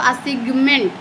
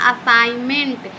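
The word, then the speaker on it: assignment: आप इसको पढ़ते हो असिगमेंट। असिगमेंट ऐसे नहीं पढ़ना कितना असाइ इसको पढ़ना असाइनमेंट। यहां पे जी और एन साइलेंट हो जाता है। जी और एन क्या होता है? साइलेंट होता है। तो इसको हम पढ़ेंगे असाइनमेंट।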